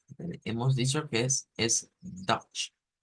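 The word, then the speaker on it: Deutsch: el idioma original hemos dicho que es es dutch dutch Entonces vamos a ir acá y vamos a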